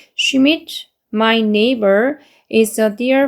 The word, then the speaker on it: Schmidt: 다시 한 번 더 Mrs. Schmidt 여기 she 발음이기 때문에 Schmidt, my neighbor is a dear friend to me 해가지고 내 이웃 슈밋 부인은 소중한 친구예요 나에게 라고 해요.